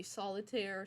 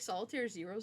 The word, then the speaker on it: Solitair0: So, there's multiple ways to pronounce this. You can just say Solitaire, Solitair0, Solitair0. I think Solitair0 sounds really cool.